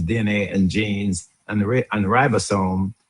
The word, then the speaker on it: ribosome: Metabolism, hormone, immune system, mitochondria, genome which is DNA and genes and and ribosome. I think Mary pronounced it reebasone, but um Mary is American and I'm Jamaican.